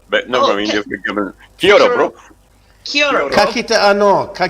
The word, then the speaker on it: kia ora: Yeah, kia ora. Kia ora. Kia ora, bro. Yeah. Kia ora, bro. You forgot the bro. You forgot the bro part, but never mind. You've given. Kia ora, bro.